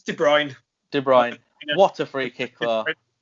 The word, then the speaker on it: De Bruyne: It's De Bruyne.